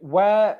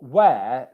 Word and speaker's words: where: Okay, so I'm sure everyone watching this already knows that for where, you don't pronounce this sound here. The H is silent.